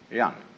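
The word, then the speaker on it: jen: fundamental virtue of a human being is called young spelled j-e-n for reasons best known to chinese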